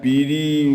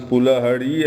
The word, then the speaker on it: Piri: You have seen Chakthani, which is mispronounced as Chativavo, where Tilopa was born, and Piri, where which has been mispronounced as Fulhari, and Abhaypur, Naropa's temple, and of course Dharara, the prostitute, Dharima's house.